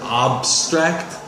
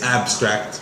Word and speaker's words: abstract: to cooperate I think when you pronounce the word abstract you said abstract its abstract with an ass sound you said what are